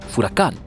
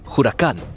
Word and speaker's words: huracán: pedro mártir de anglería la palabra originalmente se pronunciaba furacán con efe aunque otros insisten que es huracán con jota de todos modos luego se virtió al español con una h silenciosa de huracán o huracán a